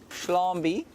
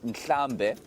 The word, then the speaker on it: Nhlambe: Shlambi, which is a very bad sort of pronunciation of the word Nhlambe, which means herd.